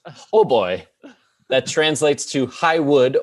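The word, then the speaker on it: hautbois: french it is french the french word h-a-u-t-b-o-i pronounced ho boy that translates to high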